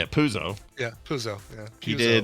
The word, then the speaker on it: Puzo: Puzi? Have you heard of Mario Puzi? Mario Puzi. So hold on, the real guy, Mario Puzo. Now I've lost how to say it. Puzo.